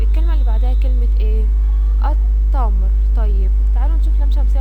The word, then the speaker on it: التمر: لام ايه لام شمسيه طب احنا اتفقنا اللام الشمسيه تكتب ولا تنطق يبقى هنقول ايه التمر التمر طيب يبقى التمر لام شمسيه طيب العنب العنب ها